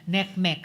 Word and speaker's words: NCMEC: Uh partly it's accounted for by the fact now uh bat tip NCMEC or neckmech as they pronounce it neckme cyber tip line reports.